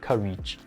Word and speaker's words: courage: me no it's phenomenon the fourth word courage the the accent is on the first syllable it's not courage courage courage there are many other